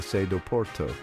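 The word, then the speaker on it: Sé do Porto: the Porto Cathedral or as the locals say the sedo Porto This Magnificent structure perched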